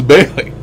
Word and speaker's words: Bailey: And when they call me Bali, it pisses me off. Because it's Bailey.